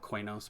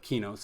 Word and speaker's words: Qeynos: uh not in the kinos hills or i always call it quanos but keynotes i think is the proper pronunciation it's sony eq backwards and that was the